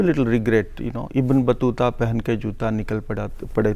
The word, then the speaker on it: Battuta: Because I needed to use shoes, you know, because in Hindi, Ibn Battuta rhymes pehan ke with, juta. yeah, it rhymes with shoes.